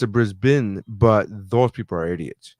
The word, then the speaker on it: Brisbane: 2022 kumutay which is obviously taking place in brisbane australia and they have a local correspondent correspondent